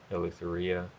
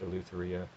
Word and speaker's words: Eleutheria: Some people pronounce, the journal title Eleutheria. I got that from the Logos Bible software pronunciation. It's also been pronounced Eleutheria um, or Eleutheria. It really it depends on the etymology. I think it has an Attic origin.